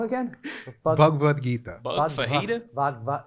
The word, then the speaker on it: Bhagavad Gita: he's always like, you should read the Bhagavad Gita. You should read that. And he always mispronounces it, but he never looks at me when he does Oh, it.